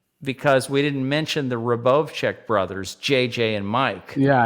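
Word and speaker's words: Rubovczak: Yeah, it's the H is silent. Yeah, so it's Rub, R-U-B-O-V, Rubov. C-Z-A-K is Czech. Okay. I was like, Mike Huberbach. Yes, C-Z is like ch.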